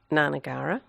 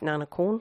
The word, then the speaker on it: Na Nagara: period where i used nanakulin which is the correct pronunciation the thai pronunciation um and then when